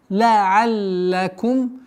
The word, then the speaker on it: لعلكم: Ла'аллакум. Удвоение. Обращаем внимание на удвоение звука лям.